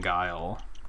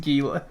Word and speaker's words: Guile: More specifically, he thought the Street Fighter character was pronounced Gile, and I was like, it's pronounced Guile, like the word.